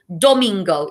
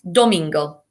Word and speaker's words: domingo: gods and goddesses completely domingo is sunday and i remember domingo because it rhymes with flamingo okay domingo you try it domingo